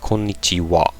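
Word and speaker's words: こんにちは: but at the end there's a ha but you pronounce it kichiwa.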